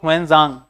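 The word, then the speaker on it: Xuanzang: Mahayan Buddhism after meeting ज़ुआनज़ांग, ये ज़ुआनज़ांग basically हुएनज़ांग, ठीक है, तो इसका प्रोनाउंसिएशन हुएनज़ांग भी है, ठीक है, याद रखिएगा।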